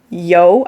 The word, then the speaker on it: Yeo: was done by uh Jonathan yo I think that's his last name if I'm pronouncing it properly it's it's a ye e o yo I feel um okay